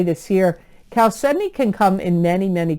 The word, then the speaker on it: chalcedony: it I think so chalcedony doesn't look like it's pronounced that way but it is pronounced chalcedony not ciao Suddenly It's Cal Sydney and it's c-h-a-l-c-e-d-o-n-y chalcedony